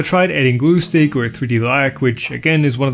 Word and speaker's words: 3DLac: is spelled wrong but is supposed to be pronounced like the real thing, which but I digress.